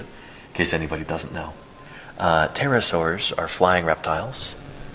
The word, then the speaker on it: pterosaur: And then let's take a look at those pterosaurs, and then I think we'll wrap up with our triceratops here, whom they're calling torosaurs, and that's okay. Pterosaur tracks. The P is silent.